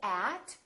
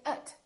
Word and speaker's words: at: sound like uh so we don't say at we say it we don't say look